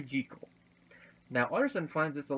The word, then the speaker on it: Jekyll: I almost said Jekyll there. Dr. Henry Jekyll.